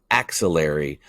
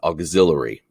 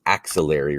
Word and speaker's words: axillary: to this word as auxiliary there is no u it is the axillary region and we find that